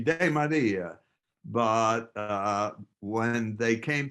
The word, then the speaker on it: DeMaria: used to say that's that's really not the correct pronunciation should be de Maria but uh when they